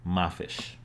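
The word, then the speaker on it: ما فيش: example if we find this series of glyphs which is pronounced ma fish if we find it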